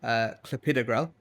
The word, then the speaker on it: clopidogrel: So there's one antiplatelet medication called clopidogrel. And because there's a dog in the middle, you get so many people clopidogrel, clopidogrel. So, but there's a whole long list of medications that are mispronounced quite often.